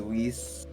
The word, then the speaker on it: Whis: name yeah I mean it's it's the same Z and an S they're totally different I'm not saying Ace yeah it is an S though w h i s I'm